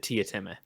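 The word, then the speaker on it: Teatime: In the book, do they pronounce it like Tome or whatever it is in the Yeah, so it's written Tea Time, right? But yeah, he pronounces it Tia Time.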